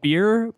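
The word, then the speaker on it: Byrrh: some apple brandy uh an ingredient called beer but it's not what you're thinking it's spelled b-y-r-r-h it's actually a wine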